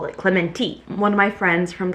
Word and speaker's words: Clemente: This past week I was in San Clemente, which apparently is how you pronounce it. I thought it was San Clemente. Clementi. That's apparently what the locals call it, Clementi.